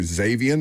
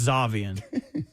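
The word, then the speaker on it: Xaivian: Xavian. Is it Xavian Lee? The guard for Florida? Believe it or not, it's Zavian.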